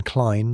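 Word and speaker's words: Klein: A musicologist friend, Professor Klene, pronunciation Klene like line, decoded the notes, a pattern matching a wartime smuggling signal used by black market runners.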